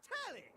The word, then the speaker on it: Telly: Before we get to what's on my screen, the name's Telly. Rhymes with Nelly.